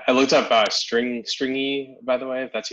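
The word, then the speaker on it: stringi: i saw that and this is how to pronounce it yeah stringy like they have a y and there's like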